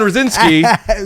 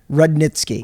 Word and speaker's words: Rudnitsky: right back with Rosinski you not even saying my name right rude in ski rudnitsky Rudnick's Rudnick ski oh god let's start